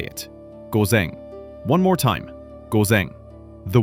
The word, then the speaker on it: ごぜん: The word for AM is gozen. Listen first. Gozen. Now you say it. Gozen.